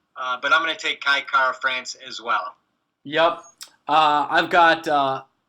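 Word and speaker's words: Kai Kara-France: And I got, oh man, Kai Kara France?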